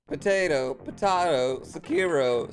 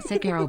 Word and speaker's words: Sekiro: I suspected you were capable of pronouncing Sekiro, but honestly it made me feel better to hear you use the Japanese syllable emphasis just the once. Sekiro.